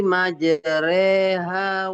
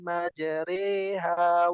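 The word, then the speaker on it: مجراها: Waqarkabu fiha bism bismillahi majreha wa mursaha. Iya. Waqabu do. Beda sama r ya. Re, r dan ro itu beda. Waqabu fiha bismillahi majriha wa mursha waqarkabu fiha bismillahi majraha wa mursaha.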